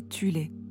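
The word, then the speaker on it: Thule: une société secrète occulte appelée sol Society parfois prononcé Tulé qui comptait des sous-factions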